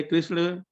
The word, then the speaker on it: कृष्ण: तो ये था कि अगर कृष्णा बोले तो क्या गलत होता है? नाम में गलत नहीं होता, कृष्ण ही बोलना है। कृष्णा बोलेंगे तो द्रौपदी का नाम भी कृष्णा है, इसलिए प्रयास पूर्वक खुद उच्चारण करें।